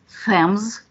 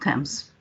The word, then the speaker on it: Thames: but he knew that americans do not know how to pronounce the name of river the river thames for them is fams or themes and not temps so he before showing